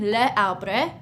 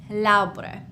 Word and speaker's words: l'arbre: So instead of saying le arbre, we would say l'arbre.